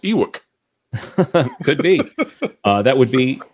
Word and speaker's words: Ewok: I'm pretty sure it's pronounced Ewok.